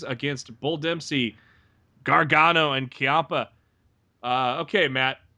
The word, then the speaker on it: Ciampa: I got a choppa I believe it's Tommaso Ciampa okay I'm so at least this how old was pronounced and rid of honor I'm very I Tommaso Champa Champa I've heard chiappa yeah there was a lot of difference for